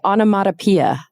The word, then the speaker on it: onomatopoeia: we say onomatopoeia.